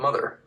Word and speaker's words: MOTHXR: It's called Mother, spelled with an X.